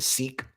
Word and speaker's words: Sikh: And none of them ever got mad when I said sick, because that's how I thought it used to be pronounced. And they would just say, no, it's pronounced Seek.